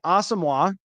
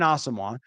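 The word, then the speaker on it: Asamoah: I think him and Brian asoa that's the pronunciation now I was chatting with somebody today out there and I was was like did that happen and I missed it like no that actually just he just informed the team that that's how he wants to pronounce so Brian AWA and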